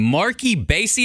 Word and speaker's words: Marc E Bassy: new artist but not new to the game mark ebay see am I saying it right you said it